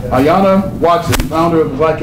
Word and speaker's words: Ayanna: he's not kidding okay our guest speaker is aana that's the way it's not pronounced not aana but Ayana Ayana Watson founder of the black atheist of America